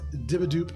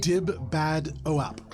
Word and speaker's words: Dibbadoep: Sophie Bischoff, who is Dibadoop on Instagram, spelled not how it sounds. DIBBADOEP. Yeah, that's right. I thought it was Dib Bad OAP for a very long time, Yeah, so if that helps you spell it, there you go.